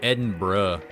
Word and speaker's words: Edinburgh: We're talking about how the town of Edinburgh in like Scotland or whatever. It just looks like it should be pronounced Edinburg. Like Pittsburgh. You don't pronounce it like Pittsburgh.